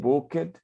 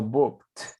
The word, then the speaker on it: booked: Remember, aquí, recuerden que como el verbo book no termina ni en T ni en D, no puedo decir booked, sino booked.